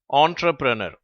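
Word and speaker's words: entrepreneur: இந்த வார்த்தையில் வருவதும் ஆ என்ற ஓசை தான், ஆனால் நல்லாவே உச்சரிக்கப்படுகிறது, ஆ என்று சொல்லி, ராண்டிவு. அடுத்து கீழே உள்ள வார்த்தை ஆண்டர்பிரனர்.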